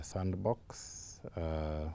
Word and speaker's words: sndbx: what today is now known as the sandbox which is spelled sndbx and so that's a